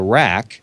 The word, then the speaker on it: RAQ: There's a companion console to the Rack. Again, that's spelled RAQ.